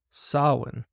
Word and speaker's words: Samhain: intended to replace the pagan festival of Samhain, pronounced Samhain, an ancient Celtic celebration marking the end of the harvest and the onset of winter. In earlier times, Samhain, or Samhain, referred to one of the 4